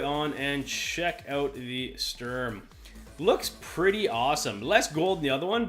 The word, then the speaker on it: Sturm: time which is the strum I call it the strum it's actually this Sturm I guess is how to pronounce this term if you